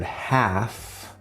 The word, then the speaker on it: half: So in the word half, there's no L sound here, but it's actually the ah sound, this front sound here.